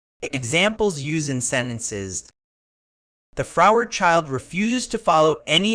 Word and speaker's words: froward: Word type, adjective, pronounced as fro, weird, with the stress on the first syllable.